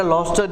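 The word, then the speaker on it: Gloucester: सर आपने तो जी लिखा हुआ है, लॉस्टर क्यों पढ़ रहे हो? तो ये बेटा लॉस्टर, ये जी साइलेंट है इसमें।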